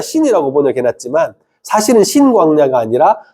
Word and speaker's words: 신광야: 앞에 있는 거는 신 단어라고 그니까 신이라 신광야라고 발음하는게 맞고요. 뒤쪽에 있는 것은 오히려 친 친광야라고 발음하는게 오히려 더 많습니다.